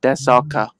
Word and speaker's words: Daszak: It would be Daszak, pronounced Desaka.